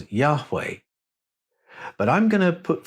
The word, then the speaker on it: Yahweh: were they pronounced now when you put the vowels into the name the H's almost disappear it becomes yahwe but I'm going to